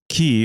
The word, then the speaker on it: Qi: rival states that constituted China at the time and Annex their final enemy State key or Chi it's Qi kind remember how that's pronounced to make the first